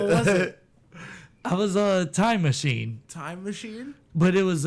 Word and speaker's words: Tymasheen: I was a time machine, Time Machine? but it was it was spelled like TYMASHEEN, like Tima, and then Sheen, like Charlie Sheen.